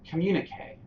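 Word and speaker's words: communiqué: Communique.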